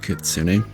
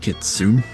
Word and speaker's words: Kitsune: Yeah, it's Sonic Kitsune, which is how it's pronounced. It's not Kitsune.